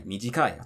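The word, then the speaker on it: 短い: It's easier to just think, oh, they're all non-heibon, which means the drop is before the e. So yoi, takai, mijikai, tatakai.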